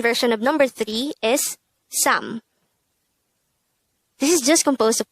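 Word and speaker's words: 사: to make it number four which is sa pronounce this with me how do we spell sa in hangul it's very simple we need to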